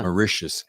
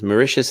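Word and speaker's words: Mauritius: micius marous marous yeah macious it's like delicious that's what I need to remember it is it's like delicious macious is delicious yeah macious is delicious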